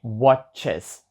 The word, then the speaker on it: watches: скажу скажу Перепрошую he Watches Тобто я не просто добавляю літеру S А я добавляю і тому що слово закінчилось нач або також схоже слово